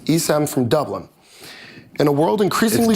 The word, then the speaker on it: Dublin: So our first one is from Isam, and I apologize if I mispronounce any of your names. Isam from Dublin. In a world increasingly... It's Dublin.